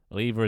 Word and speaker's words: lever: Interesting pronunciation of lever. Oh, thank you for the uh the context. Um, lever is British. Lever is American.